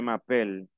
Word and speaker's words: m'appelle: Aquí hay una M, pronuncio la M, je m'appelle.